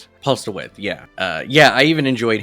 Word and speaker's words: Postlethwaite: I thought the whole cast all around, even our preacher, Postlethwaite, Thwaite, is it? I always get his name wrong. Postlethwaite, yeah.